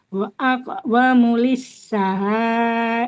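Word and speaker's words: وَأَقْوَمُ: Wa aqwamu. Mimnya enggak boleh panjang. waqwamadati wa adna waqwam waqwamadna ala h kita ulang tanya juga enggak boleh panjang aqwamuhadati coba sampai situ dulub Ya. Wa aqwamu eh wa aqwamu lisyahadati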